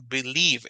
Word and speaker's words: believe: es el verbo creer palabra believe eh es eh tiene el diptongo es decir las dos vocales juntas en el medio la vocal que suena fuerte es la primera claro cuando nosotros aprendíamos